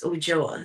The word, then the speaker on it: Ulloa: my maiden name, and my maiden name is Ujoa. So it's spelled Ulloa.